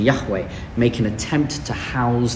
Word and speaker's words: Yahweh: of God and so it was only much later that the vowels came in and and now we have this pronunciation Yahweh make an attempt to